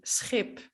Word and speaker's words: schip: The only difference is that it starts with an S. So it's sch. So think of ship, which would be schip, or sheep, which would be schaap.